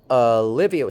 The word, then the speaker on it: Olivia: Olivia, starting with and ending with a schwa. Olivia. Olivia, I have a question for you and the other students. Is it the same vowel in the second and third syllables? Olivia. Is it the same vowel? It's not the same vowel. The vowel here is Livia. Olivia. It's the vowel in sit.